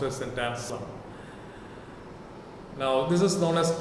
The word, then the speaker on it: Anselm: It is written Ansclm, but is pronounced as St. Anselm.